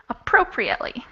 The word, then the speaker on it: appropriately: okay so this is appropriately appropriately appropriate how many syllables um five syllables stress level and stress in in second shadow yes excellent five syllables and the second syllable is stressed thank you very much